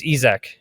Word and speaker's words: Isack: I think like in like for us it's probably Isaac, but if you want to do it properly, it's Ezek.